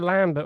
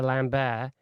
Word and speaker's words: Lambert: Um, but Christopher and Christopher Lambert or Christopher Lambbear, I think is the right way you meant to pronounce his name.